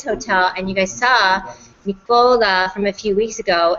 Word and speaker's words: Nicola: Nicola. See, I like to say it like Ricola, like the rucola. Like Ricola and the cough drops too.